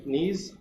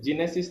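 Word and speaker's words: gneiss: इसको pronunciation proper करें बेटा, प्रोनाउंस प्रॉपर करें। इसको नीज बोलते हैं, जिनेसिस नहीं बोलते, कई लोग इसको जिनेसिस बोलते हैं, तो इसका होता है प्रोनाउंस नीज और मार्बल।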